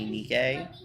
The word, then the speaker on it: Nike: Yeah, no, Nikkei. You mean the Goddess of Victory? It Nike? is Nikkei. You mean Nike? Um, Because it's Nike. Literally how it's pronounced.